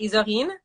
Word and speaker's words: Isorine: Isorine?